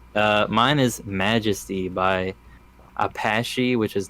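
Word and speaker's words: Apashe: know that's dope uh mine is majesty by apache which is not spelled like the indigenous tribe it's a-p-a-s-h-e yeah i've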